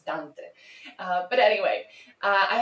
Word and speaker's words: Dante: Also it is painful for me to pronounce Dante as Dante and not Dante. Um, that's very, yeah, that's very English, but Dante is is a Latin word, right? It's it's Italian. It's Dante.